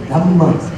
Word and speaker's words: Dhamma: One is Pali, one is in Sanskrit, I think. In Sanskrit, we call Dharma. In Pali, Dhamma.